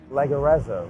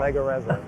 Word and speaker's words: Leggerezza: Leggerezza, right? I think it's an Italian name. You have Italian roots, so you tell I'm not me. going to say it with the accent. Come on. Leggerezza.